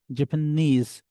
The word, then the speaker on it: Japanese: How you would say the word like Japanese when you will pronounce, where knees comes, so you will stress on the word knees. Japanese, Sudanese, Egyptian, where tian comes, you will stress on tian.